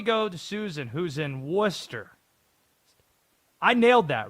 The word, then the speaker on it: Worcester: How about we go to Susan, who's in Worcester? I nailed that, right? That's the proper pronunciation.